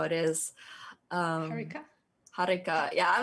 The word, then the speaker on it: Harika: I usually pronounce it Harika with a small R, like a small rolled R, but I'm not entirely sure if you're supposed to roll the R.